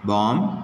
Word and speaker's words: bomb: So, B is silent in certain words like lamb, bomb, tomb, limb, dumb, etc.